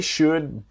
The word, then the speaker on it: should: They should be able to help you. So they should. Remember, the L in should is silent.